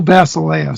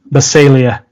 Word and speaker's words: Basileia: What's the official way? Basilia. Basilia. Okay, Basilia. Okay.